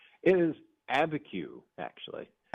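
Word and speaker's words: Abiquiu: It is Abeku actually.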